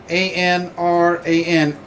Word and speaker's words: Anran: This is the get the pronunciation right. A-N-R-A-N, Anran.